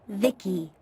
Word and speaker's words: VIC: transistors by the way I'm VI i c pronounced Vicki my Creator was Vib